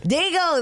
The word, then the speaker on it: Dago: I was like, we got Dago legend coming. And, you know, there's people from the East Coast that are like, Dago. I'm like, Dago. Right. Dago. That's how you say San Diego.